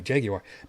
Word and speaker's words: Jaguar: a jaguar because yes i pronounced it correctly jaguar because it's an english company goddammit because i mean